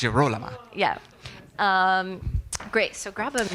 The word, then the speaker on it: Girolama: to Gesualdo is that we've been saying her name wrong for quite a while. So we're now yes, practicing. The whole first production, we were saying Girolama. Oh, yeah, no. But now Girolama. we know it's Girolama.